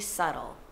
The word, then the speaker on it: subtle: Itu namanya not very subtle. The B is not pronounced.